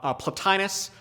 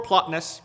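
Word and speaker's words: Plotinus: uh the medieval era people like platinus or plotness those are both acceptable pronunciations much as augustine and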